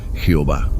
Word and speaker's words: Jehová: Lo que en español se pronuncia Jehová.